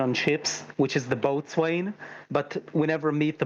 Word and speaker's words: boatswain: is the boatswain but we never meet the boatswain of the enterprise deutschland i'm not saying they need they had to write those scans out of what hey it's it's a mostly dark corner it's pronounced and boson is the first officer so riker is the